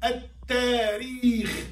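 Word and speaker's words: التاريخ: Lam non-pronounced but written at-tariq.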